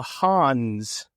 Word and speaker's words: Han: they used interchangeably with what they called the Hans. Not the Han, which is, of course, the majority cultural group in China, but they were referred to plural as the Hans, not Hans Zarkov.